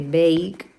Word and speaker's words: bake: Pues si el verbo en su forma base acaba en emuda, como por ejemplo el verbo que no se dice esa e, directamente lo único que tenemos que añadirle para hacerla en pasado es una d porque ya tiene la e.